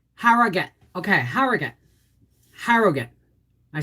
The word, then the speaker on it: Harrogate: country her frame split okay i'm missing something harrow gate no it's harrogate it's it's pronounced harrogate um so we passed the bar again exam